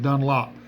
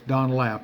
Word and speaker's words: Dunlap: some people pronounce it Dunlop, but it's Dunlap. is has an A there whether you like it or not.